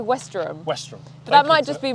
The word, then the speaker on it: Westerham: thank you to this Co West go on pronounce it your way west west what West he said Wester ham it's not Wester ham I say Wester westr but that might just be my accent westr Golf Course phenomenal he was a great condition